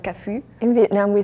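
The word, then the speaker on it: Cafu: actually okay I'm saying like how should I pronounce it like he in Brazil we say kafu in Turkey we say kafu in the United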